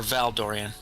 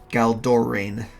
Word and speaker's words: Galdorian: Galdorian or Valdorian? Galdorian. I'm gonna put it.